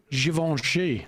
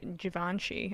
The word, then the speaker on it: Givenchy: Givenchy. I did not know how to pronounce that. I thought it was Givenchy.